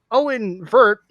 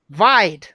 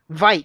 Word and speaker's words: Veidt: Discount Seth Rogen calls him Owen Vert. Owen Burt. Yeah, Owen Vert. I don't think it's that hard. Vide. It rhymes with bite. Vite.